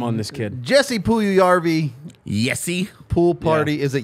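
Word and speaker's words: Puljujärvi: great name strong name on this kid Jesse puyu yarby yesi pool party is it yesi okay well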